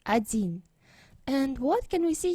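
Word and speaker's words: один: bit about pronunciation no we pronounce like we read it adin stress is here ajin and this letter we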